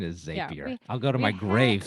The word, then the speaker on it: Zapier: pronunciation i know because their tagline is zapier makes you happier right which i feel